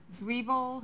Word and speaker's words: Zweibel: Computer Adam Zweibel. Zweibel. Zweibel. I'm sorry. It's Adam. Zweibel. It's Dr. Zweibel. Oh, doctor. It's Zweibel. Oh, Zweibel. Yeah. Okay, I do know how to pronounce his name.